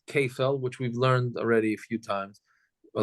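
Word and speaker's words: כפל: It's basically called kefel and dalid v'hei. That's the way it's pronounced.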